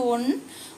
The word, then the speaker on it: one: നോക്ക് എവൺ rupee coin ഇവിടെ ഒഎൻഇ വൺ അല്ലെങ്കിൽ വൺ ഇവിടെ വരുമ്പോൾ എന്താണ് വവലആണ് എഇ ഐഓയിൽ ഉള്ള അക്ഷരമാണ് പക്ഷേ ഉച്ചാരണം വ ആണ് അപ്പോഴ എന്താണ് വ ഡബ്ലുന്റെ ശബ്ദമാണ് വൺ വ് അപ്പം എ വൺ